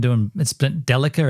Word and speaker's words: Delica: It's pronounced Delica two ways? Has it really? It's been Delica and Delica?